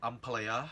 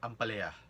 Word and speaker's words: ampalaya: In Manila, we call it ampalaya or ampalaya. That's how you say it. You say ampalaya or ampalaya.